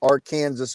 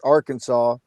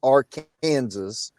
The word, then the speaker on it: Arkansas: In the rest of the world, you pronounce the word Arkansas, Arkansas. But if you live in the state of Kansas, you pronounce it Arkansas.